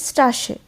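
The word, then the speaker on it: Straße: এসে সেট দিয়ে হচ্ছে নরমাল এস এর মতনই উচ্চারণ হয় কিন্তু ওটা ডবল এস এখানে আছে এক্সাম্পেল স্ট্রাসে স্ট্রাশে হচ্ছে স্ট্রেট মানে জার্মানরা স্ট্রাসে বলে আশা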